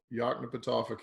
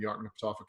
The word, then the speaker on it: Yoknapatawpha: county that I could never in my life pronounce the name of that. What is it? Yoknapatawpha County.